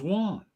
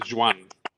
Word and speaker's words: Joan: is it Joan Meo I thought it was Juan uh because it's from Catalonia okay is it said it said Juan right it's dep depends who you ask it's it maybe pronounce the the the the most correct way to pronounce his name is Jan Jan okay I just never